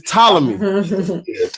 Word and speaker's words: Ptolemy: It's Ptolemy.